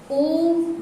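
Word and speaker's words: ओ३म्: जैसे हम ओम भी कहते हैं, तो आप देखे होंगे ओम, जब ओम में लिखा होता है तो बीच में आप हिंदी का 3 लिखा होता है। ओम, माँ में हलंत लगा होता है, तो हम उसका उच्चारण भी कहते हैं ओम, इस तरह से करते हैं।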